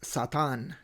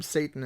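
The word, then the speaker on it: שָׂטָן: I think in Hebrew it is not shaitan it is satan in Hebrew. At any case the term satan and satan it comes from there.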